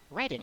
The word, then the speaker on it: Reading: Now we can move on from Swindon to perhaps say Reading.